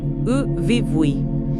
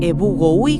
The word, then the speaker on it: Yvyguy: La pronunciación aproximada sería U-vi-bui. Imagina algo como un ebugoui con la Y guaraní, que es un sonido vocálico particular, y una G suave al final.